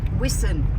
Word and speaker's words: Whiston: Whiston. Wiston, as the locals pronounce I it.